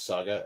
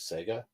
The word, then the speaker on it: saga: I used to always pronounce Saga as Sega just because of the console.